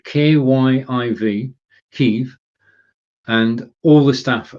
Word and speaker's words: Kyiv: Don't say Kiev, that's the Russian pronunciation. Kyiv, K-Y-I-V, Kyiv.